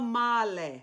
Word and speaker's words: male: And the L in the male is a normal L. Mila male.